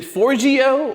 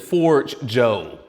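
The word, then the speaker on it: Forgejo: Is it Forgio or is it Forge Joe? Say Forge Joe, but I don't talk to anyone.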